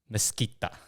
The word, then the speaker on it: Mesquita: So I was just trying to get this pronunciation right, but it's Yes. Mesquita.